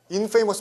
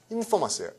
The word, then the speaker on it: infamous: infamous 발음 아니에요. famous고 fame인데요. infamy. Y가 돼서 infamy. 액센트 앞으로 갑니다. 그래서 infamous예요. infamous. infamous가 아니고 infamous. 됐어요?